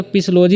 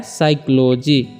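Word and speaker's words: psychology: silent ए रहा है ठीक ऐसे पढ़ेंगे तो पीस लोधी हो जाएगा लेकिन यहां पर पी जो है साइलेंट है तो इसको कैसे पढ़ रहे हैं साइक्लोजी उसी तरह से ओनर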